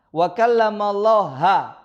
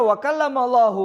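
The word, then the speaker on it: وَكَلَّمَ اللَّهُ: Wa kallamallaha. Jadi bahasa Arab itu salah harokat bisa merubah arti. Wa kallamallaha Musa taklima. Ini kata Jahmiyah ini. Dan Musa benar-benar berbicara kepada Allah.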